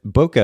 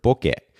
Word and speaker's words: bokeh: this as well but Boca is originally a Japanese word book it and I actually grew up in Japan so I should be pronouncing it that way but I also know